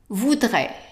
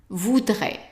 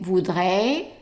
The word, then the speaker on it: voudrais: And then second one, voudrais, voudrais. And be careful not to say voudrais.